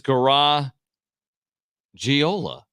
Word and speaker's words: Garagiola: I'm not entirely sure I thought it was garagiola but Murray says garagiola John he Joe Gaga's